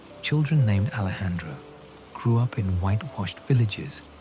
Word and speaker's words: Alejandro: It became Alejandro, the J pronounced with the throaty sound characteristic of Spanish, giving the name a warmth and strength.